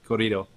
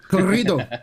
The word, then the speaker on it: Corrido: how to actually say corrido. Edmon's our director of sales and marketing, and he's actually from Nogales. Sonora. So it's Tequila Corrido. Corrido, right? Corrido. Yeah, you gotta really roll your R's.